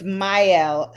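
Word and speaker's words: Mielle: long time and um no it's myel so it's spelled m m i e oops l l e so that's the name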